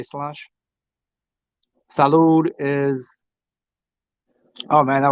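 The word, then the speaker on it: sláinte: Ah, that's Slanche. Slanche. Is that how they say it? Slainte. They say Slanche.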